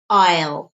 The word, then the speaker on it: I'll: pay notice the pronunciation because in speech we don't often say I will we say I'll I'll it's a very quick sound I'll I'll just um